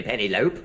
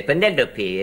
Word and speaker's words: Penelope: epitome you don't see penny lope all the greek derivatives sound their final e you say penelope an epitome and syndra